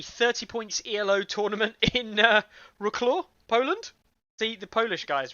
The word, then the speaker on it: Wrocław: By the way, it's Wrocław. It's not Wrocław. Okay. It's basically like in German, W is pronounced like V.